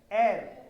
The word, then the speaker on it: heir: ये जो वर्ड है HEIR, हेयर नहीं है, वो हायर नहीं है, प्रोनाउंसिएशन है ईयर नहीं है। एक मिनट, खड़े हो जाओ, क्या बोल रहे हैं आप? ईयर, हियर नहीं, एयर, एयर।